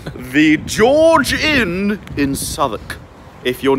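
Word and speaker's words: Southwark: oh my God and it's actually spelled like saying South walk what a stupid way of speaking but that's what the old English did so it's s o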